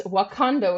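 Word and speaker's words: Wokando: Yes, it's actually a bit of a pun. It's Wakando, which is WOK, like a wok you cook in, and then ANDO, which is that's wok in Spanish, which is Got it.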